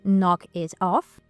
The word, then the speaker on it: knock it off: And here because of the American accent, the T from it also changes to a D sound.